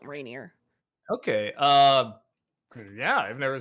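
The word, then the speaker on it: Rainier: Uh, spell it R A I N I E R. Rainineer like m like Mount Reineer.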